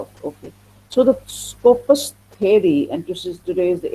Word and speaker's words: Skopos: So it says the word Skopos is from, just like we have the English word scope, we spell it like SCOP, scope. किसी चीज का क्या scope है? SCOP, scope. This is in Greek word. It is a Greek language. It is called Skopos, but it means the